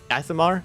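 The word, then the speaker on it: Aasimar: I can't remember how to pronounce it. Asimir. Asimar, right?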